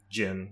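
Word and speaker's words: djinn: Is it like the Jin or the Jin? Jin, yeah. Jin. Okay, so the D is silent.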